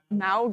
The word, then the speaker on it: Mauga: Malga? Mauga.